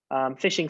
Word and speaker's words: phishing: type in the sea fishing spelt with a ph is the fraudulent practice